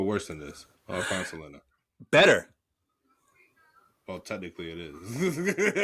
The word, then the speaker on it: Selena: Because that's how you pronounce her name, Selena. She's, a Texan, so they called her Selena.